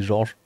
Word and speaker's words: Georges: J'ai découvert que c'était pas Georgian, c'est Georges.